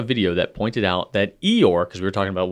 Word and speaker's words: Eeyore: some don't okay um Eeyore is a name invented by a kid with a non-erotic literally the nonr like British accent so that Eeyore would be pronounced very much like a donkey sound and an American version would be hehw so what Jason is saying here that Eeyore's name is basically like e like e or without the r so